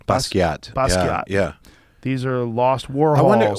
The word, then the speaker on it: Basquiat: baskets or how do you say his name basquiat yeah these are lost warriors why didn't he